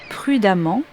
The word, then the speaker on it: prudemment: et élégamment A2 m vous noterez que l'on prononce de la même façon amant les deux graphies voici les points à